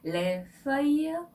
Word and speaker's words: Les feuilles mortes: 드리려고 합니다 네 먼저 제목부터 알아볼까요네 제목은 let for you 이렇게 발음하는데요 렌은 정관사의 복수형이고요 수화이에요가 종이라는 뜻도 있고요